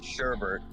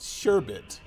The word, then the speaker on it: sherbet: book correct it's okay so it's pronounced sherbet s-u-h-r-b-i-t you can't see my